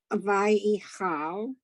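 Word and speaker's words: וַיְכַל: Vayichal. Not ye. It isn't a ye. There's no e. It's vayi. Vayichal.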